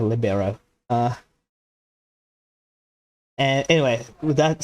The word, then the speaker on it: libero: So I'm not sure how that's pronounced. I'm not a big sports fan. I know it's a sports term. I think it's an Italian word for free, I think. So that I think it's pronounced libero.